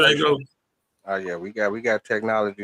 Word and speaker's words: Django: You know how the G is silent in Django?